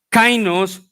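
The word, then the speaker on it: καινός: Pero esa palabra nuevo en griego es una palabra que se pronuncia kainos, y el sentido de esa palabra es que dice que Dios derribó todos los instrumentos del hombre.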